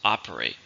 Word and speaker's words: operate: How many syllables are in operate? 3, stress on the first, operate.